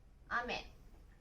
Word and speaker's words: 雨: これは雨と読みます。